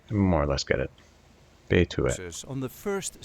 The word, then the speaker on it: Betuwe: And this time we will see how to pronounce in a regular Dutch accent Betuwe. Betuwe.